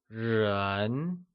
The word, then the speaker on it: 人: Ko is the measure word for family, and people becomes ren.